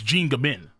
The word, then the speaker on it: Jean Gabin: Oh, I said Gabon. Jesus Christ. It's Jin Gabin. It's pronounced Jean. Okay. Jean. Thank you. Jean Gabin.